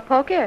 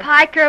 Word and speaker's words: piker: You mean they think I'm a poker? Piker, Ma, I wish you'd be careful not to mispronounce words.